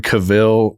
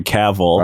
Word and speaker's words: Cavill: I feel like a man who's got like that Henry Cavill look, very chiseled off jawline, fresh shave.